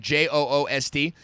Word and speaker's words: Joost: Now, it's spelled juiced, right? But like Joost.